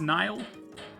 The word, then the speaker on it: Nihil: I always say Nihil, even though it's probably supposed to be pronounced Nile.